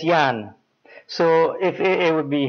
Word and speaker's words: Jan: And it's pronounced like a Y, Jan. It's J-A-N, but it's pronounced like Jan.